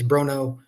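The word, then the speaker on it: Bronaugh: spelled the last name it doesn't sound like it's spelled it's b r o n a u g he told me it's Bruno um so I'm just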